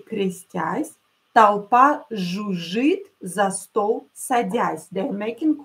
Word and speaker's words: жужжит: When you have double consonants, double hissing consonant, that means that you have to pronounce it deeper, longer. Жужжит.